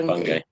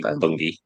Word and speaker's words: Bungay: Yeah, Bungay. It's spelled Bungay, but they say Bungay or Bungay as well, which is also near here.